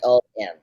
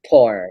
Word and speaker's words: Pom: POM, not porn, sir.